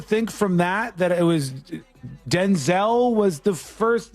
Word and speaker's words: Denzel: Rhymes with Wenzel. Denzel Curry.